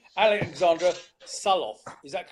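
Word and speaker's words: Sørloth: Alexandra Suloff. Is that correct? Sure. Suloff. I was told by a Norwegian that the O is pronounced like a U. So Suloff. Suloff.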